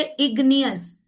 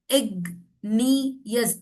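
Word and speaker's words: igneous: And that is व्हाई जी इज not silent. So when we से इग्नियस इग्नियस तो ग पे आपकी चैन टच हो रही है। तो ज है इट्स नॉट ज इट्स ग ठीक है तो यहां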